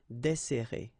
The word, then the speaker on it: desserrer: Okay, so we've got this double S, so it will open the sound of the here. That's the reason why I pronounce it like E. Desserrer, desserrer.